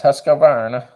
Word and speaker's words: Husqvarna: American Mattias says Husqvarna so funny when Americans try to pronounce the Scandinavian Swedish brand it's Husqvarna yeah I'm Canadian broke